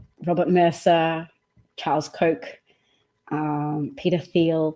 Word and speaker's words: Thiel: Mercer Charles Koch um Peter Thiel Peter teal to pronounce the teal Peter Thiel even Elon Musk who